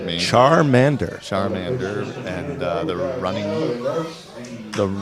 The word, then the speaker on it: Charmander: Trader the Tiger Den will be Charlie's charmand Sharman Charmander Charmander fire type Pokemon I'm so embarrassed meant lack of Pokemon pronunciation I didn't see that didn't do enough